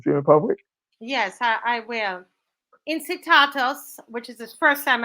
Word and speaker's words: Incitatus: Incitatus, which is the first time I'm learning this word, thank you. A Latin pronunciation, incitatus, meaning swift or at a full gallop, was the favorite horse of Roman Emperor Caligula.